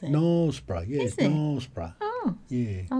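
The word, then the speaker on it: Knaresborough: nsbra in North Yorkshire nbra is how you pronounce it Nob yes NB oh yeah I was always NRA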